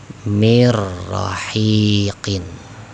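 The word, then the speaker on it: من رحيق: Ketika dibaca, leburkan ya, dileburkan nun sukunnya. dileburkan nun sukunnya menjadi mirrahiqin. Ingat ya, bacaannya didobelkan, ditasydidkan ya, mirrahiqin. Ingat jangan lama-lama idgham bila ghunna karena tanpa dengung.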